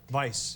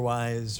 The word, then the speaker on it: Weisz: right Vice yeah Vice even though it looks like we or wise it looks like we Wheezy I get all sorts of pronunciations but but it's Vice like the opposite of virtue you know yeah or